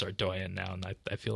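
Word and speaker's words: Ardougne: the bargain yeah it's gonna go down in pronunciations like whether it's ardoian or our dog knee or whatever people say but we know it's our doian now and I feel like that one just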